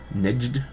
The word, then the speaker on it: Nejd: Nejd. That's how you pronounce it.